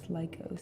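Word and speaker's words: Lykos: While on an expedition to the savage land, Carl Lycos It's pronounced was Carl Weathers. no, it's Lycos.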